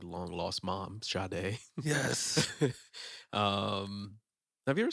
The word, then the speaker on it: Sade: it's no allegra sade is this sade or shade is that french no she's actually she's um i never understood why that's pronounced as shadow i think she's from